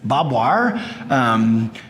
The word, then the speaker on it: barbed wire: Barbed wire, absolutely, or as we pronounce it in Texas, bob wire, which is critical, of course, because there's not a lot of wood for fencing.